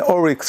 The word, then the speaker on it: oryx: This is an oryx shofar. Right? Wait, how do you say it? Oryx? Oryx. Okay, oryx.